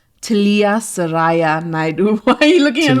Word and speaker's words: Naidoo: to nicknames, her name is and pronounced Talia Saraya Naidoo.